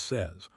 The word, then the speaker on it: says: He says it is not he says he it is says rhymes with fez.